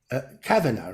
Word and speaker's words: Kavina: And I say Lydia Kavina, but it's Kavina, right? Accent on the first.